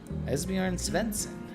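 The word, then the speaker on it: Esbjörn Svensson: I believe Esbjorn Svensson. Esbjorn Svensson. So we'll go... Correct! I did it. He says I pronounced it correct. Esbjorn Svensson.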